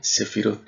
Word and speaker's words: Sefirot: Se pronuncia Sefirot en plural, se pronuncia Sefira en singular.